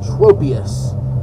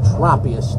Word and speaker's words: Tropius: Here comes the big ugly, the big bastard again, Tropius, or Tropius, depending on how you want to pronounce this giant monster's name.